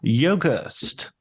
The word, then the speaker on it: Yogerst: And today I'm going to be talking to Yogerst. How did I do? Did I nail the pronunciation? Yep, you nailed it.